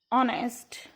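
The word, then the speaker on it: honest: और जब हम इसके प्रोनाउंसिएशन करेंगे हेयर, किसके साउंड आ रहे? ई. इट कैन बी यूज एन. आर, ऑनेस्ट, honourable.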